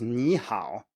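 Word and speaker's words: 你好: Because ni hao is also 3-3, but it's pronounced as rising low.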